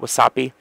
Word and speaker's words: WASAPI: a was sappi drive that's what I call it wasapi because if you look at it it's spelled was sappi it's right there see